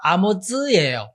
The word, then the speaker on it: 아모즈: 이사야 아버지가 아니라 그 그러니까 이제 히브리어로는 태가 자예요 그런데 아 이사야의 아버지의 이름 끝에 자는 히브리어로는 굳이 그걸 따진다면 제 자예요 그러니까 발음나는 대로 읽으려면 아모스와 아모즈 예언자 아모스가 아니다 이름을